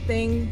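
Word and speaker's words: þing: their like Gatherings um it's spelled with the funny little PE looking thing that you say thing thing thing yeah and this one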